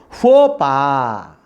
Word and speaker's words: faux pas: This one is faux pas. Faux pas. How do you pronounce? Faux pas. Here faux pas means X is a silent, S is the psi is a silent letter.